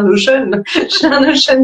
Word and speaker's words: Notion: Donc Notion, c'est Notion en français, ça s'écrit comme le mot Notion, N-O-T-I-O-N, pour celles et ceux qui connaissent pas.